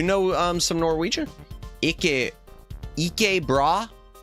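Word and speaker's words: ikke bra: Your first pronunciation uh was pretty good. E bra.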